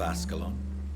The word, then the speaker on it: Ascalon: ask what that was asklon right i think that's how you pronounced it asklon what do you know of ascalon yes i was right i was threatened by